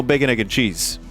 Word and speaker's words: bacon, egg, and cheese: However, I do know bacon, egg, and cheese pronounced as one word.